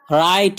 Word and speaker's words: write: WRITE राइट यहाँ W silent है.